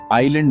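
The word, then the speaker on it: island: आइलैंड में एस चुपचाप बैठा है।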